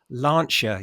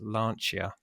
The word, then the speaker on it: Lancia: of the video because my wife was screaming lancher you idiots it's pronounced lancher that's because Tom's calling it Lancia so we